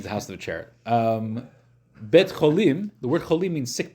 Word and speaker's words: Beit Cholim: Beit Cholim, the word Cholim means sick people.